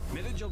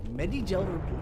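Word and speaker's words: Medi-Gel: Midigil deployed. There we go. That was a weird way to pronounce Medigel, by the way. Medigel deployed.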